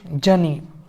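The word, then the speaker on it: journey: इसमें देख ले हैं आर इसमें साइलेंट पर आर इसमें साइलेंट हो गया है, और जे और ओ यू है उसको जा पढ़ रहे हैं केवल, और ई वाई को ई पढ़ रहे हैं, और ना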